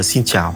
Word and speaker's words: xin chào: Par contre, les mots sont courts et c'est quand même facile à prononcer. Et je vous apprends quelques mots vraiment fondamentaux. Pour commencer, on dit xin chào, ça veut dire bonjour en vietnamien.